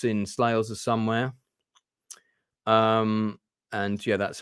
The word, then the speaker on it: Slagelse: This photograph, I believe, is taken in my father's parents' house, or certainly it's in Slagelse somewhere. And yeah, that's how the town is pronounced, Slagelse.